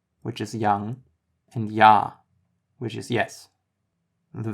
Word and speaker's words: Ja: First we have the J, or J, which is actually pronounced just like the Y is in English. Some examples: Jung, which is young, and Ja, which is yes.